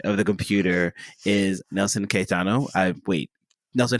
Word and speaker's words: Caetano: the other side of the computer is Nelson Kitano I wait Nelson how do you pronounce your name I just want to make sure I get it right it is kaano yeah no you have perfect pronunciation so that's that's awesome you're one of